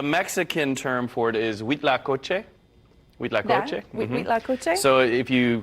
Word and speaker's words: huitlacoche: That means eight in French, but nothing to do with Spanish, with Mexican Spanish, but wheat la coche. So it's really Huitlacoche.